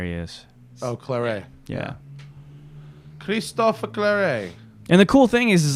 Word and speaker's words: Christophe Claret: Christophe Claret.